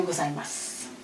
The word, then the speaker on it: gozaimasu: Le masu ici, souvent, là, on va faire tomber le ou final.